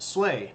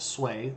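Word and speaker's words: Sui: Dynasty and it's pronounced sway now I know it looks like s it's pronounced sway like Sway in the wind um sway Dynasty now what is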